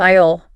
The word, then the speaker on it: aisle: know if I've ever thought about how to pronounce this word before. Interesting. Like aisle, for example. Aisle.